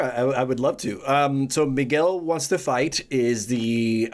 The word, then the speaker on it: Miguel: Miguel. Let me that's how you pronounce his name in Espanol.